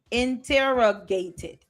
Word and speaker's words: interrogated: Interrogated. Okay? It's like 4 syllables in that. So you got to take your time.